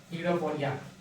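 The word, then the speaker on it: pseudopodia: सडोपोडिया जिसमें P silent रहता है।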